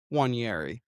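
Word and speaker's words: Nwaneri: Oneari. What? What does he want? The N is the N is silent.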